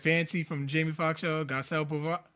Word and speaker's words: Garcelle Beauvais: The download video with Fancy from Jamie Foxx show, Garcelle Beauvais. How you pronounce it? Oh, Garcelle Beauvais.